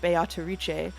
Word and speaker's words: Beatrice: how to pronounce uh beatric because not only will I acknowledge that the Japanese uh actors are saying biche I will say that uh the Japanese pronunciation is based on on Italian pronunciation which I checked